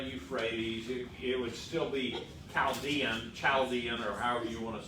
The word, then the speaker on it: Chaldean: Chaldean. Huh? Chaldean, a hard CH, yeah.